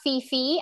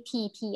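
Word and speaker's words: Phi Phi: um so it's not it's not fifi island it's actually pp island and this is a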